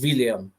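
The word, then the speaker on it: Willumsson: By the way, the Icelandic W is pronounced with a V. Okay, so it's William.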